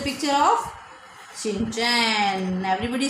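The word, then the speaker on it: Shin-chan: जैसे यही स्पेलिंग है SHIN, शिन, CHAN, चैन, शिन चैन, बहुत इजीली याद हो जाएगी।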